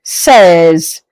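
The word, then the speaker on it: seize: 16 is pronounced in French as says. As what? Says.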